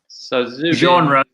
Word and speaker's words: genre: oh please yeah but genre it's a good word say I sometimes students don't like the pronunciation but yeah genre genre it's gone like a French jean-claude van try to